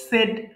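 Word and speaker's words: said: সেই সেই বলা সেই সেড সেড এটা আবার কিন্তু আবার সেইড হবে না বিদেশীদের দেওয়ার নিয়ম কিছু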